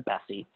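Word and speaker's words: BESI: to employment success inventory b e s i we pronounce that internally we've always called it the bessie so why is the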